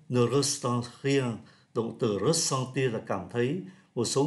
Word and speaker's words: ressentir: Động từ ressentir là verb transitive direct, chúng ta phát âm là ressentir, có nghĩa là cảm thấy.